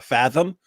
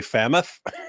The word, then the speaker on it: fathom: And he kept trying to use fathom, but he would say fammoth.